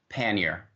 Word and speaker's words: pannier: of it and lastly the way you pronounce a word is pannier